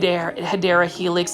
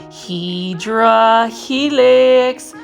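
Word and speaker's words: Hedera helix: new to my channel I miss mispronounce H hadera Helix as hedra Helix because for the longest time when I was doing my um initial plant shopping videos I was really mispronouncing it and I didn't realize it it kind of stuck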